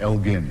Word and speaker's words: Elgin: called the Elgin marbles, always pronounced wrongly in this country. It was Lord Elgin, in fact, hard G, that they had annexed in the 18th century.